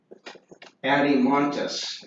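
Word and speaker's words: Adeimantus: Adimontus is how you pronounce that.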